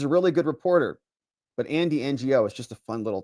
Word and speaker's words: Andy Ngo: It says the G is silent. Okay, so pronounce it like this. Andy NGO.